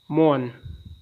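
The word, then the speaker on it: mourn: note जहन में रखना मोन मातम करना दस्तो इसमें य आर साइलेंट है मोन मातम मो हरकत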